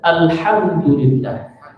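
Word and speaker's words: الحمد لله: Ya, alhamdulillah. Alhamdulillah. Pakai hak kecil. Ya, jangan sampai pakai hak besar. Begitu ya. Lamnya agak mengalir, tainiyah. Jangan langsung dilepas. Jangan gitu ya. Tapi mengalir dikit.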